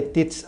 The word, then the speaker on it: Teads: Él es director general de TITS México. Él me corregirá cómo se pronuncia, Fernando. Como lo dijiste perfectamente, TITS México. Perfecto.